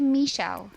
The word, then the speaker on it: Michele: all right so let's see here it's um Michelle Rosenthal that's the right pronunciation it's actually Michelle if you really want to be I thought